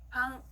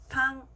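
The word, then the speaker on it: パン: 파가 들어가는 일본어 단어는요 방, 발음이 비슷하죠? 빵이라는 뜻입니다. 같이 읽어볼게요. 방, 방.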